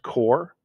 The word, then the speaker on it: corps: reference c-o-r-p-s is pronounced core the s is silent if we put an